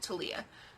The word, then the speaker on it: Thalia: Pretty sure that's how it's pronounced, Thalia. She even told me how to pronounce it. Thalia.